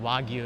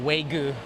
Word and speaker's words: Wagyu: That means it's geared towards tourists who don't know what Wagyu is. They probably pronounce it waygu, which is funny to me.